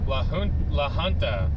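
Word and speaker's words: La Junta: Launta the the J is a H. Okay. So Lahonta.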